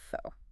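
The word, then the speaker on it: phở: We have to start with fo. Essential. And we must stress this for everyone listening. The correct pronunciation is fo, not fo. Got it. Fu.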